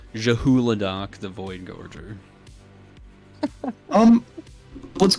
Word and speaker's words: Zhulodok: Oh, I always get it wrong cuz it's it's not Zuladoc, it's Zahuladoc. There's an H. And I always spell it wrong. Yeah, it is not silent. Jahuladok the void gorgger.